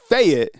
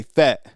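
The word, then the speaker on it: Fayette: Because it said it's it's faget, but it right like locals say fet.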